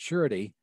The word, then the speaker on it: surety: a french word and when you pronounce it you put an h in it surety but when you spill